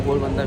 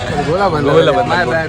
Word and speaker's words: Golabanda: Yeah, Banku, he is the guy from Golbanda village. Golabanda. My bad.